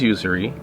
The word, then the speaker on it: Usery: was first of all how do you pronounce it is it really usury and where did that name come from it is usury okay and it comes